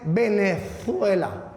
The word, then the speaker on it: Venezuela: Cuando deberíamos decir es Venezuela, que se pronuncie la Z, ¿no?